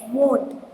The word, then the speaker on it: won't: Want mean, don't pronounce it want. It's won't.